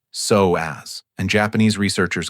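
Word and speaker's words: psoas: It's called the soas, pronounced soaz, and Japanese researchers call it the muscle of the soul because of its profound connection to emotions in your nervous system.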